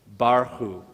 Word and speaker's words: Barchu: In fact, I've broken it into two parts because what you have is two syllables. Bar. Oh, I didn't mention the last vowel, so to speak, is the shava, those two little dots. That just means it's silent.